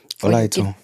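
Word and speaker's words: Olaitan: Olaiton. Olaiton. Yeah. Did I pronounce it correctly?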